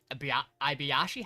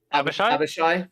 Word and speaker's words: Abishai: Are you sure it's not just an Ibiyashi? How do you say their fucking names? Abishai?